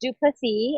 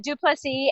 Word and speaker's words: Du Plessis: Technically, it's pronounced Du Plessis. It's very French, and it's my husband's name. And it's mine too, though, right? 36 years after marriage. It's mine. But Du Plessis, and that's how you